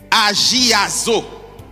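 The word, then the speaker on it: ἁγιάζω: origine du mot grec agazo comme cela se prononce h g I a Z aazoa signifie séparé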